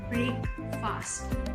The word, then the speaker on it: breakfast: It's not called breakfast or breakfast. The FAST is not pronounced. Basically what we do is the A is not pronounced. It's silent, and so we treat it as FST. So we call it as breakfast.